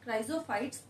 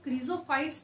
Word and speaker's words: Chrysophytes: हुए मैं आपको टॉपिक क्राइजोफाइट्स एक्सप्लेन करने जा रही हूँ। ठीक है, कई लोग इसको क्रीजोफाइट्स भी बोलते हैं।